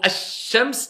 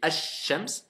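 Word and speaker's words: الشمس: Mais pour simplifier, je regarde, il y a une shidda. Je prononce pas le lem.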